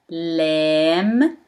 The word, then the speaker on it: لام: Lam, lam. Mim, mim. Noon, noon. One more time from right to left. Lam, mim, noon. Let's start. Lam, lamb. Lamb pronounced as L in English, and it looks like L but in the opposite direction.